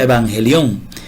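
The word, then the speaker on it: εὐαγγέλιον: Se pronuncia evangelión y se suele traducir al español como evangelio.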